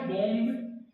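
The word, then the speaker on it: bomb: कैसे वर्ड बनता है बी ओ एम बी गाने में आया है बम लकी मैनो बम बम है बम राइट प्रोनंसिएशन है बम बम एक बार फिर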